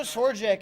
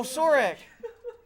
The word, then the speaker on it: Sorek: You know Sorjak is in Buffalo, right? Sorjak. Or wait, how do you say his name? You know. Oh, Sorek. Sorek.